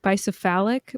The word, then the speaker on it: bicephalic: like i said before the bicephalic which i think it's pronounced by cephalic but i don't think they wanted to say the word phallic they say like